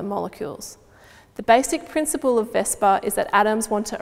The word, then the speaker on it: VSEPR: VSEPR, often pronounced VSEPR, stands for valence shell electron pair repulsion theory.